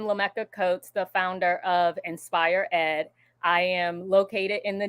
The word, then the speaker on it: InspireED: the founder of inspired Ed I hope I'm pronouncing it right LCA is Inspire Ed okay Inspire Ed thank you for correcting me so we're gonna